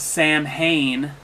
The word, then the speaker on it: Samhain: Halloween started as a pre-Christian Celtic festival pronounced with the name of Samhain. Samhain is another term for the summer's end.